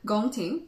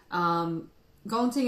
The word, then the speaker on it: Gong Ting: We've got Gong Ting, which is the highest grade on the table. It's a grade of Pu'erh that's mostly the buds. For those of you who've had Gong Ting before, this one looks extremely budsy.